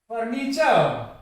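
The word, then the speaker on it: furniture: जैसे फर्नीचर, ये खुद ही ए पे जाके खत्म हो रहा है, लेकिन रे की साउंड नहीं आएगी इसमें, फर्नीचर नहीं होगा, फर्नीचर, फर्नीचर, ये भी ए पे ही खत्म होगा।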